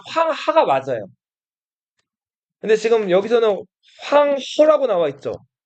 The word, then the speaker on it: 황허: 근데 지금 여기서는 황허라고 나와 있죠. 허는 우리말로 하라고 발음되는 이 한자를 중국어로 허라고 발음하거든요.